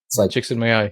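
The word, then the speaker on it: Csikszentmihalyi: in the space the Martin Seligman's I was mispronounced mahale chicks in my eye yes there it is thank you who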